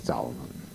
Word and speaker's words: Thaûma: conversazione la parola zauma, che nella corretta traslitterazione vuole l'accento circonflesso sulla U, ma si legge zauma, che è una parola